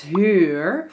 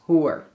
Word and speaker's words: huur: The UU-sound in Dutch is a little bit difficult for most of the students who start learning Dutch because it's close to the OE and it's a little bit different than in most languages.